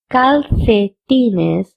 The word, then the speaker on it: calcetines: Or you can also pronounce this word as calcetines because CE in Spanish has the C sound. And C also. So you can pronounce this word as calcetines also or calcetines also.